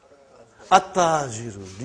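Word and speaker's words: التاجر: How will you pronounce this now? At-tajiru. You did not pronounce al. You did not pronounce lam. Okay, you did not pronounce, you skipped it.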